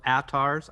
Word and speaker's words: Atars: I do a soft A on the front, so Atars.